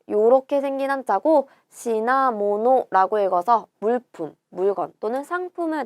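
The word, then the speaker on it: 品物: 자, 요렇게 생긴 한자고 시나모노라고 읽어서 물품, 물건 또는 상품을 나타내는 단어가 되죠. 요거를 시나라고 읽는 게 훈독이고 힝이라고 읽는 게 음독이에요.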